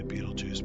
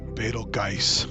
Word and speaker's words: Betelgeuse: of Orion is probably Betelgeuse. Or as some people say, Beetlejuice because of the movie. Or if you look at it and pronounce it more Germanically, it's like Betelgeuse.